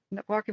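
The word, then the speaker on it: Joaquin: CH jakan jaka jaqua no it's Walkin okay like Walkin Phoenix no I know most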